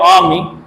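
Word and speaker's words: army: flock heard आर्मी नाउ इट्स आर्मी note आर्मी सो आर is little bit silent here आमी simple आमी okay let's come to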